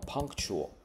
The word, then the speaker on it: punctual: 形容词的部分重音放在开头 punctual，名词变成 punctuality。